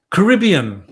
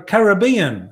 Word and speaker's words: Caribbean: um you know you you say uh you say Caribbean no no no that's that's the uh uh that's the American way of saying it you got to say it like an Australian car Caribbean the Caribbean right say it like that so they pick it